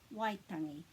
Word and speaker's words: Waitangi: Because this A is always going to be the sound A, not E. Waitangi.